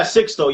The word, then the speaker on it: Sixto: Am I pronouncing that right? Yeah, Sixto. Yeah, that's right. Sixto.